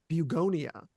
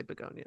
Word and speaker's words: Bugonia: 2025's Bugonia, and I think it's actually you're supposed to pronounce it um, Bugonia, but I'm just gonna Mm, say Begonia because a fuck lot of it. people are saying that anyways.